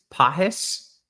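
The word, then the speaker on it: Pagés: falure very nice it's it's not Pages it's pis yeah I I think that's the correct pronunciation I try to work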